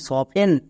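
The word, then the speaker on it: soften: এফ এর জন্য ফো এবার এখানে দেখো টি আছে এফ এর পরে টি আছে তার মানে টি এখানে সাইলেন্ট উচ্চারণ করবো না নেক্সট ই এর জন্য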